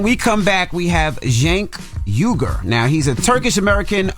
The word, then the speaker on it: Cenk: Cenk. Just think of J. His Cenk. name is spelled C-E-N-K, but it's pronounced Cenk.